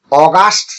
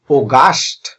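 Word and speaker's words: August: এস টি, এটির উচ্চারণ অগাস্ট না, এটির উচ্চারণ হবে ওগাস্ট, ওগাস্ট। এখানে শুরুতে ও উচ্চারণ করতে হবে।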